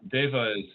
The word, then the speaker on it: devas: was named eva after so devas is how it's often pronounced and it's also by the